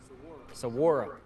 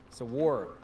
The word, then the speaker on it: Saguaro: Saguaro. Saguaro. Kind of like saguaro cactus.